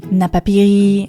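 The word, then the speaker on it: Napapijri: Napapiri, and yes, I just checked the pronunciation after mispronouncing it for more than a decade.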